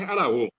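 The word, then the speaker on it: aravo: Hora es arabó, ara, boré. Ara es tiempo y bo viene de boré, pedazo, pedazo de tiempo.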